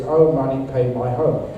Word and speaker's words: Om Mani Padme Hum: That's a wrong pronunciation. It is "Oh money, pay my home."